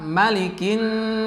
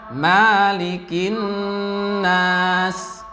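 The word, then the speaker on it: مَلِكِ: Ini sebagian di antara awam juga banyak yang salah dikata malikin nas. Ada yang membacanya malikin nas. Tapi yang betul adalah pendek, maliki.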